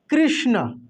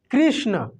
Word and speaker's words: कृष्ण: इससे बनेगा दोस्तो देखिए कृष्ण कृष्ण आप बोल कर देखिए इसको कृष्ण ये श का उच्चारण पूरा अंदर से आएगा तलब स के जैसे नहीं आएगा ये मूर्धन्य श बिल्कुल